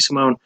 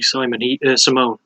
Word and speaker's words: Simon: So, fight starts as usual, and Rob Font immediately starts pressuring Ricky Simone. I have to remember it's pronounced Simone.